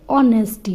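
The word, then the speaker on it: honesty: इसका pronunciation ऑनेस्टी ना होकर के ऑनेस्टी होगा, ठीक है। एच साइलेंट है यहाँ पर, इसको हम नहीं प्रोनाउंस करेंगे।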